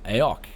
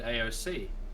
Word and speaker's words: AOC: was just thinking though is it pronounced AOK or I always said AOC I just pronounced AOK I I mean that's what when I bought this people when when we go like to the computer stores and stuff everyone just says AOK like everyone just says